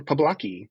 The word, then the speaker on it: Poblocki: Yeah, you pronounced. said you were going to, but... Yeah, pretty much. Poblocki. Yeah, Dan Poblocki.